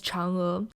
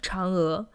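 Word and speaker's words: 嫦娥: is the pronunciation of Chang'e. In the movie, sometimes they tend to emphasize on the Chang and make the sounds a lot weaker, but actually they should be pronounced with equal force.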